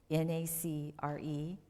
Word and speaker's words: nacre: And then if you look at yourself and you write down the nacre, N-A-C-R-E, pronounced nacre.